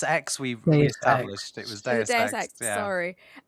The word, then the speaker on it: Deus Ex: How do you pronounce this? Deus Ex. We established it was Deus Ex.